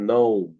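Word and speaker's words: knee: Silent খেই, এটা আসলে একটাই নিয়ম, সেটা হচ্ছে খের পরে যদি এন থাকে, খেই এর পরে যদি এন থাকে তাহলে খেই এর সাউন্ডটা সাইলেন্ট হয়ে যায়।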